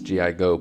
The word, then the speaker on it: Gigo: My name is GIGO, put it together and it is pronounced Gigo, and today I want